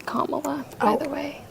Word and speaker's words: Kamala: it's hard talking politics I watch all of Camila um interviews her name is pronounced Kamala by the way K La reallya I didn't